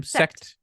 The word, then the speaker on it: Sekt: Sekt.